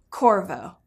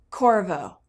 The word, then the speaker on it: Qorvo: chorus core and voyage Corvo this is a name that is different it's intriguing I invite you to say it with me Corvo please pronounce the Q like a K for trademarking and other